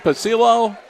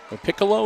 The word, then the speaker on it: Piccolo: makes the grab again caden pasillo piccolo is how they pronounce it okay so i